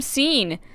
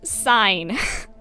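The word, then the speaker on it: Sein: our first objective from scene not c it's sign i'm sorry i always pronounced it scene i didn't know it was an actual word until recently it's it's a german word it's pronounced sign but we have our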